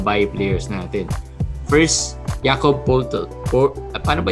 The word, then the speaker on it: Poeltl: First, Jakob Poeltl. Paano ba i-pronounce to? Poeltl. Oo, Jakob Poeltl.